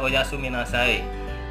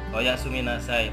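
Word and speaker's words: おやすみなさい: ya oh ya suwun ini nah Say Biasa pengucapannya oyasuminasai oyasuminasai pengucapan oyasuminasai ini ya artinya selamat tidur atau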